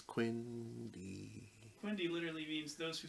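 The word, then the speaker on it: Quendi: Yeah, Quendy. Everyone knows it's Quindy.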